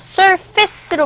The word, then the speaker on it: surface: surface라는 단어는 철자는 이렇게 되지만 소리는 이게 face가 아니라 surface로 발음이 되죠. 이렇게. surface. A가 아니라 E로 발음이 돼서 surface.